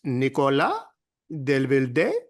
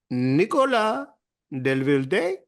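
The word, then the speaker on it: Nicolas Devilder: I ask everybody in Paris, basically, how do you say this? And everyone says, well, it's Nicolas Delvilde. I said, there's a question mark at the end. They're like, oh, Delvilde. I said, okay, I'm going to do it.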